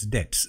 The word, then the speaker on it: debts: Ceased to পে হিজ ডেটস। Date এখানে দেখো DEBTS আছে, তো বিয়ের উচ্চারণটা কিন্তু হবে না, তো ডেট হবে DET, এরকম যেরকম যদি বানানো হয় যেরকম উচ্চারণ হয় সেরকম হবে ডেটস। ডেট মানে কি দেনা।